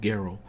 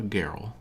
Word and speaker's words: Geralt: All I ask is that you go and talk to my pa, Geralt. Geralt? Team Hard G.